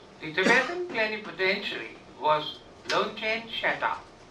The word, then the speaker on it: Shatra: The Tibetan plenipotentiary was Longchen Shata, which is often written as Shatra in English, but the pronunciation in Tibetan is Shata.